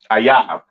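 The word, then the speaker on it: אויב: Ayab. Okay. That is how you pronounce enemy, all right, in the Hebrew.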